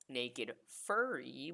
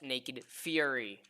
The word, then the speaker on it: Naked Fury: Anyway, which a lot of my friends keep trying to pronounce it as Naked Furry. Fun fact, Fury is spelled with one R, not two. There you go. So it is pronounced Naked Fury.